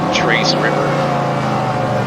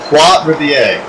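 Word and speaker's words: Trois-Rivières: you're gonna say it, you need to learn how to pronounce it. Let's start there, so we're gonna work on that. Try it again, Tony. Trace River. Nope, try again. Troy Sermon. Tupac Shakur. Alright, Zach, can you say it correctly? Was that it? Nick Chubb. Oh, you failed. It's Trois Riviere. Trois. We're gonna need a language course for this, sir.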